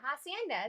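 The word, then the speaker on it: Hacienda: Am I pronouncing that right? Yeah, Hassienda.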